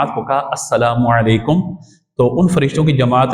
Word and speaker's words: السلام علیکم: بھی عطا فرماتا ہے۔ یہاں پہ تلفظ درست ہونا چاہیے، السلام علیکم، سائکم نہیں، یہ کوئی لفظ نہیں ہے، سائکم سائکم وعلیکم یہ بھی کوئی نہیں ہے، تو السلام علیکم اور پھر سامنے سے وعلیکم السلام۔ اور یہ بھی بیان